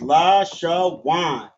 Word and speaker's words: Lashawan: So it's pronounced la sha wan.